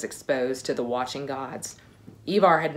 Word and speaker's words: Ivar: person or i bar some people will pronounce it i bar and i'm really torn on what i should do because on the show they pronounce it ivar but i think most scandinavians say ebar but it told me